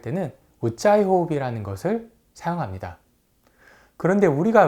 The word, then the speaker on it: Ujjayi: 일단 이 단어를 잘못 발음하는 경우가 많습니다. 우짜이 이렇게 하는 경우가 있는데요. 이 우짜이 호흡의 스펠링은 UJJAYI입니다. 그래서 우짜이 breath 이렇게 보통 표현을 합니다. 참고로 이 J가 두 번 들어간 이유는 영어에는 된소리가 없지만 산스크리트어에는 된소리가 많습니다.